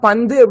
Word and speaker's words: பந்து: எப்படின்னா பந்து அப்படின்னு சொல்லும்போது அந்த இன் அப்படிங்கறத நம்ம நாக்க கடிச்சு தான் சொல்லுவோம். அதான் சரியான உச்சரிப்பு.